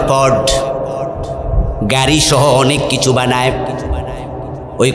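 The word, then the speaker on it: Ford: বড় বড় কোম্পানির মাঝে একটা কোম্পানির নাম হলো প্রড ওই আটটা সাইলেন্ট থাকে তাই উচ্চারণ হয় পড গাড়িসহ অনেক কিছু বানায়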